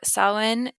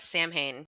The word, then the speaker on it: Samhain: yes yes so sa which I did not know how to say this for a long time because it's s a m h a i n yeah you thought Sam Hayne you're like what is this very very American of me right yes